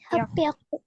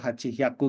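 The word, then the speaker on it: はっぴゃく: Nah, ini cara bacanya beda. Ya. Normalnya kita nyebutin sanhyaku mungkin ya, atau rokuhyaku, atau hachihyaku gitu ya. Tapi enggak. 3 ini cara bacanya dia ingin beda sendiri. Ya, jadi agak hati-hati untuk 3 angka ini.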